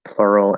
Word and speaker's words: plural: L colored um can we use Uval the oval sound in plural and Rural so like plural and rural plural to me it sounds kind of weird that might be the full pronunciation uh and maybe in some dialects I say it that way I however would not naturally make it into an oo sound um let's see what